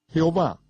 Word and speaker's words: Jehová: sueño hoy en día jehová un hombre que se encuentra en algunas versiones de la biblia es una palabra híbrida obtenida de pronunciar las cuatro vocales como consonantes y sumando las vocales de la palabra hebrea arona en que significa señor este cambio deliberado por